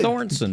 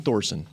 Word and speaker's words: Thorson: Thornton, right? Didn't it? I think it's Thorson. Clayton Thorson. He put an N.